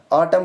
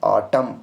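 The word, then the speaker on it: autumn: ऑटम को देखो last पे वर्ड के एंड पर है एम एन और यहाँ पर भी एन रहेगा साइलेंट और इसको पढ़ेंगे हम ऑटम, और क्योंकि लास्ट पर कॉम्बिनेशन है एम एन का कॉम्बिनेशन है, एन साइलेंट रहेगा और इसको हम सिंपली क्या पढ़ेंगे? ऑटम।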